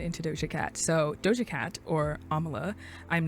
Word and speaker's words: Amala: to butcher it, but I do know Amala is how you pronounce her first name because she has said it before in interviews.